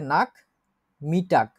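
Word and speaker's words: Nachmittag: তো এটা হচ্ছে নাক মিটাক, এটা হচ্ছে লাঞ্চের পরে বা বিকাল, আমরা যে কথাটা বলি বিকাল। নাক মিটাক বলেন উচ্চারণ করে, নাক নাক মিটাক, নাক মিটাক।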